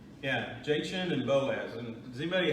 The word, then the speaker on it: Jachin: How do you pronounce the J word? Jachin? Jachin.